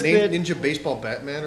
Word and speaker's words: Ninja Baseball Bat Man: of the draw is the way that they pronounce it too is ninja baseball batman which it should be a ninja baseball bat man you know and it's like not batman i thought it was